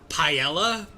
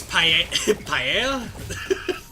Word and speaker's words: paella: me because uh I I kept pronouncing it paella it it's paella I tried I I